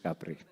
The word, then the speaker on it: Kapre: is kapre and i'm pronounced as mr capri thank you so last